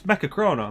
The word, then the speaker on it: Mechachrono: It's like, it's mecha-chrono. Mecha and chrono, simple enough words.